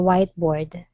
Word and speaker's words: whiteboard: here the teacher wrote the assignment on the Whiteboard whiteboard okay very good good job he nailed